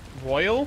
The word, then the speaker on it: Royal: But it's also like Royal. Hi. Hey. I was gonna say the way it's spelled in the main title is Royal. Yeah. Why do I say Royale? It's Royal. Yeah.